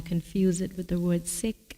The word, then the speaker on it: Sikh: them so not really so sick means learner that's wonderful yeah so i'm going to say i'm going to try and say sick because i'm going to say it properly okay beautiful thank you